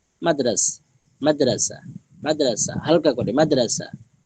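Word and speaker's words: مدرسہ: একটি জরুরি বিষয় মাদ্রাসায় এর হা উচ্চারণে আসে না। মাদ্রাসায় এর হা উচ্চারণে আসে না। বাংলায় মাদ্রাসা বাংলায় মাদ্রাসা উচ্চারণে যেমন হ নেই লেখাও নেই। উর্দুতে লেখাই হ আছে উচ্চারণে নেই।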